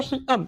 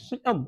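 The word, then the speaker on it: caecum: It opens into a cecum. It opens into a cecum. C-A-E-C-U-M. C-A-E-C-U-M. It is pronounced as cecum.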